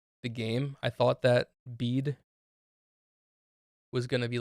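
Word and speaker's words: Bede: So it's like a straight through B, like the second E makes the first E a long E, the way it's supposed to be pronounced.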